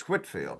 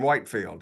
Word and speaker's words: Whitefield: Well, the first lesson anytime we talk about Whitfield is we have to figure out how to pronounce his name, right? You know, I mean, you can probably tell whether somebody doesn't know if they call him Whitefield.